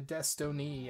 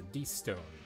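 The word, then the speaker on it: Destone: That is why it's important to pronounce things the way that they're pronounced and not add extra syllables to words, because that is not a Destiny amulet. Even though it technically could potentially be pronounced that way. It's a de-stone amulet.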